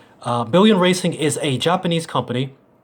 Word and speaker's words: Billion: about the company itself it is pronounced and spelled exactly as you see it bi ll ioin billion billion Racing is a Japanese